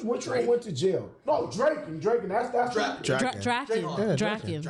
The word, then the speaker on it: Draken: No, Draken, that's Draken. Draken. Draken. Draken. It's Draken. Not me calling him Dragon.